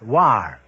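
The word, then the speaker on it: Loire: sorry the correct answer is l-o-i-r-e pronounce war they tell me so that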